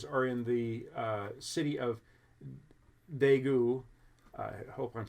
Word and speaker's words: Daegu: Most of those new reported cases are in the city of Daegu, I hope I'm saying that right. Daegu, I think, is maybe how you say it.